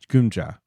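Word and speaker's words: Geum-ja: Gumja.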